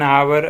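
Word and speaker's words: hour: जैसे an apple an आवर एन या फिर य हावर जो है ना तो हावर का साइलेंट होता है तो आवर हो जाएगा समझ रहे हैं ना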